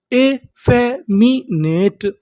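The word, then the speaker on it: effeminate: कहने का मतलब एफ हमारा दो बार लिखा है लेकिन पढ़ेंगे कितनी बार? एक बार। तो मीनिंग क्या बनी? इे पढ़ेंगे यहां पर A double F ई एफ एम आई मी एन ए ने टी ई ट ए फेमिनेट।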